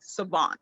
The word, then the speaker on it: Sahvant: I threw that H in there because I wanted people to be forced to pronounce it properly, Savant versus like Savant or anything else.